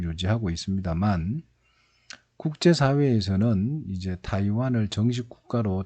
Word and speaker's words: 타이완: 가지게 됩니다 자의 중국이 있고요 그 다음에 이제 타이완 이 있습니다 뭐 예전에는 대만 이라고 읽었는데 요즘 문제다 이관 이라고 할 쪽 이